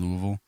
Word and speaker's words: Louisville: this past September down Louisville uh Louisville there was my first Louisville Louisville got you got to say it like that not Louis not not Louis Louis nins and Louisville it's Louisville yeah yeah um and uh